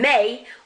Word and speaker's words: mes: Mon, ma, and may. Notice that S, I'm not pronouncing it.